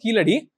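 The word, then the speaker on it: Keeladi: There is a site called Kizadi or Kiladi under, okay. This is pronounced as Kiladi.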